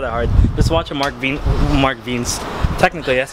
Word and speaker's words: Mark Wiens: Just watch a Mark Wiens. Technically, that's how you pronounce it.